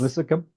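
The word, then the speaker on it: Linthicum: of Redmond Dennis Lynch I think that's the way you say that lithicum yes lithicum yeah there that extra syllable in there doesn't it uh represents all of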